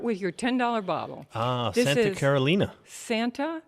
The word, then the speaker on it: Santa Carolina: your $10 bottle ah Santa Carolina Santa it looks like Carolina to the rest of us but it is in the Spanish pronunciation Santa Carolina call it Santa yes